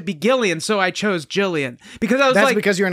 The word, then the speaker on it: Gillian: gillian jacobs gillian jacobs it's pronounced jilly it's pronounced gillian it's pronounced jillian yeah okay i think